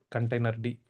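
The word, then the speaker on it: containerd: Here you have somebody called container D. See this this is how we pronounce it.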